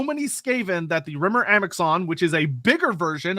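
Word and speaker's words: Amaxon: bigger version of the Amazon Riven our world runs red with blood although many pronounced that one as just Amazon because X's are often pronounced as Zeds that's fair for the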